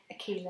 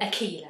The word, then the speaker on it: Aqila: I've got the lovely Aqila here next to me and I just had to ask her to pronounce the name. It's definitely Aqila. Aqila, that's right.